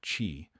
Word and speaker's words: qi: Pressing specific points along these meridians is believed to restore the flow of energy, called qi, pronounced chi, reduce tension, improve circulation, and signal the nervous system to calm down.